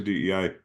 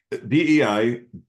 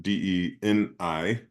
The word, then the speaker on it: DEI: Sometimes you'll hear people pronounce it DENI, like pronouncing the ampersand, which Oh, drives me nuts because it sounds like DENI, like there's an N yeah. in the middle of it.